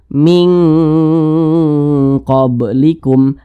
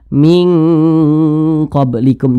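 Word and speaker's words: مِنْ قَبْلِكُمْ: ya ikhfa Hakiki ab'ad jadi cara membunyikannya itu dia lebih Condong berbunyi Eng Jadi dibacanya itu min qoblikum min qblikum Jangan dibaca Minah itu kurang tepat Ya kurang tepat tapi yang tepat itu dibunyikan Eng Ming nah seperti itu Jadi kalau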